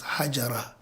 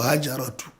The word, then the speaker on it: Hajar: slave girl by name hajar but commonly pronounced as hajjara or hajaratu hajara hajar was the slave girl